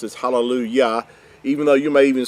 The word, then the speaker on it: hallelujah: is always pronounced as hallelujah, even though you may even see it written in your English translations, halal, and it's got a J instead of a Y, but it's always still pronounced as hallelujah, because Yah, or Yahuah, is his name.